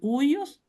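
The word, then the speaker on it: υἱός: Aquí está transliterado, Jesús Christus, Theos, esta es la TH, Theos, esta es la Upsilon, que es el Huios, se pronuncia como Huios, hijo, y la S final es la Soter, ¿ok?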